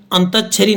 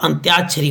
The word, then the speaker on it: अंत्याक्षरी: होता आगामी परीक्षाएं होती है अंत्याक्षरी अंत छरी नहीं होता अंत्याक्षरी होता आप खुद भी कते